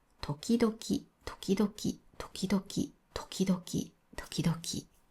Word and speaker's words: 時々: これも時期ドキという人が多いです。でも日本語にはたたたはありません。この場合はた友達と一緒で、え、トキ同キターです。